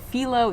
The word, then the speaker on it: phyllo: I noticed a lot of people say it as well, but philo is in fact the correct pronunciation.